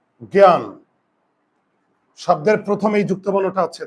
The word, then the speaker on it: জ্ঞান: হবে তাহলে এই যে গ এর উপর চন্দ্রবিন্দু আর জ ফল আগে বুঝো আর এখানে আকার আছে আকারটা আমি নামিয়ে আনলাম জ্ঞান ন এর নিচে হসন্ত দেব আমি কিন্তু বারে বারে